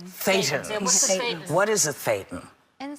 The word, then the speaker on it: thetan: So tell us what that is, and the concept of, and I don't want to mispronounce it, thetans? Thetans. Thetans.